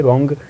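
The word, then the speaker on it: wrong: इसे भी ऑलमोस्ट लोग सही प्रोनाउंस करते हैं, डब्ल्यू के बाद आर है, यहाँ भी डब्ल्यू साइलेंट है, इसलिए रॉन्ग प्रोनाउंस करते हैं।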